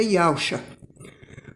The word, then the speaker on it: Yahshua: O Filho do Eterno é Yahshua. Para pronunciar o nome do Filho, primeiro pronuncia o nome do Pai, que é Yahweh. Depois, o Filho, que é Shá, que significa salvação. Então, Yahshua é Yahweh salva, entendeu?